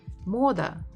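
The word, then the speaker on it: мода: Vietnam okay Moda Moda again we have o and we can hear it even more Moda Moda stress the first one another so first one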